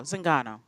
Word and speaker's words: Zingano: If anybody's got betting odds, Misha Tate, Kat Zingano, or am I saying it wrong? No, Zingano.